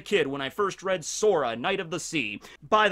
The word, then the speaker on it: Sora: i was a kid when i first read sora knight of the sea by the way the name sora sometimes it's also sola it's the same issue with sanji's mother who